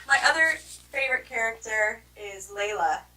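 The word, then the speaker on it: Laila: quickly and who my other favorite character is Layla it's how you say it oh dang it Layla she is Indian and she her story is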